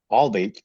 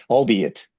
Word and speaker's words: albeit: Albeit Albate, I don't know how to pronounce that. Albeit.